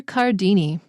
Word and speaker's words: Cardini: Wow, his name is difficult because you see CA and you want to pronounce it K. So the first one is and the second one is K, but they're both CA.